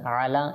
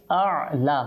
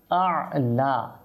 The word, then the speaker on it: أعلى: যাবে তো এটা হচ্ছে আলা আবার আ আপনি যদি অর্থাৎ প্রথমটাকে আপনি আইন করে ফেলেন তখন কিন্তু শুদ্ধভাবে উচ্চারণ করতে পারবেন না তো প্রথমটা হামজা আলা ঠিক আছে এভাবে করে আমরা উচ্চারণ